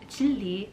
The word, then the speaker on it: Jinri: Jinri, or more accurately pronounced as Jilli, is my Korean name,